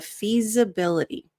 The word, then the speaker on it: feasibility: The S in feasibility sounds more like a Z. So you'll notice there's a little bit of vibration. So if you're saying feasibility, that's going to sound accented. Nothing wrong with that. It doesn't cause confusion. But if you're working on your American accent, this can be something subtle that really refines your pronunciation.